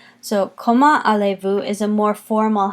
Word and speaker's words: Comment allez-vous: we don't hear that coma allez-vous the Z's is silent there it's just not even used and you'll notice that